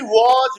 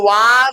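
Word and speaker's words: was: उठाना या जगाना बी वज बीन ब इसको वाज नहीं पढ़ना व व व व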